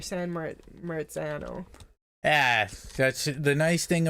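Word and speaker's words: San Marzano: like San Marano Tomatoes San Morano oh no they're uh not San Morano they're San meran yeah that's the nice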